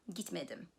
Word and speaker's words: gitmedim: In the negative, the past tense suffix follows the negative suffix me, and the main stress falls on the syllable immediately preceding me. Gitmedim, çalışmadı, right?